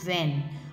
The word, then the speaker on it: when: Now next word when, when. आप इसको sound से पढ़ सकते हैं वह एन वैन. एच इसमें साइलेंट रहता है हमेशा डब्ल्यू एच वर्ड्स में,